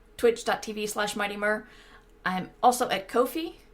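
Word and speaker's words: Ko-fi: mightymur i'm also at kofi kofi no kofi right rhymes with no fee uh k-o-f-i dot com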